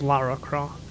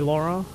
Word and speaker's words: Lara Croft: Yeah, But you are right, it is Lara Croft. It's not meant to be Laura.